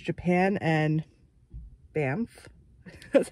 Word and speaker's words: Banff: read it, but then it says Japan and Banff, that's how you say it, in Canada.